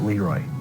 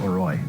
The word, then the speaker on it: LeRoy: Caledonia Mumford, probably the only towns that pronounce it Leroy and not Leroy. Yeah, because it rhymes better with destroy Leroy.